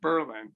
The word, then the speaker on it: Berlin: of the town to berlin and take the accent off the second syllable so that no one